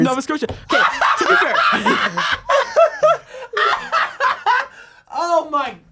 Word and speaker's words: Nova Scotia: with the maritime line I'm going with the Nova scoa line here I'm going mckinn and Crosby marshand Crosby wait AE how did you just pronounce that did you say Nova Scotia Nova Scotia yeah it's Nova Scotia NOA it's Nova Scotia